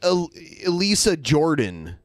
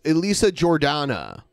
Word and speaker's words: Elisa Jordana: her name right like it's not a lisa jordan it's elisa jordana what is she a